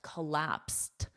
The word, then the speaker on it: collapsed: my God, Jennifer just collapsed. Now it's a verb. So I said it in the past. Simple, she just collapsed. Collapsed because the Ed is pronounced as a soft T Otherwise we could collapse and that's dangerous.